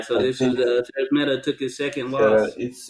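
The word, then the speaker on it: Szeremeta: So I this is think Sarah's Meta took his second loss. it's pronounced Sheremeta, I believe.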